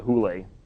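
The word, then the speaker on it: hyle: And they call the Platonic world the pleroma, which is this non-physical Platonic realm, and then the hule, it's spelled Heil, but it's pronounced hule.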